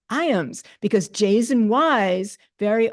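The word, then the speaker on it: Ijams: Another Dutch name, it's pronounced Iam, as in the dog food. Okay. Iams, Iam, I, J-I. It's not Jiams, it's Iams, because J's and Y's very often have that kind of a silent pronunciation.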